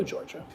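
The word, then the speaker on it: Giorgia: The I is silent in my name, so it's like Georgia. Oh, like the state. Gotcha. All right. Hello, Georgia.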